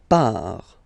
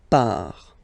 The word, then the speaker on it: part: Il, elle, part. Final T not pronounced. Il, elle, part.